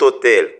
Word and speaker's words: hôtel: commence par N MU on ne prononce pas h c'est mu on dit cet hôtel c'est pourquoi et c'est